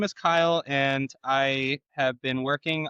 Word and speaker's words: Kyle: So hi Kelly, please tell us about yourself, but also if you can pitch your idea, what you want to build today with us.